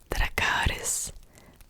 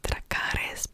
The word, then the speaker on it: Dracarys: really, and that is Dracarys, Dracarys, Dracarys, Dracarys, Dracarys. I know that Emilia Clarke in Game of Thrones said it like Dracarys, but actually the Y should be pronounced as U.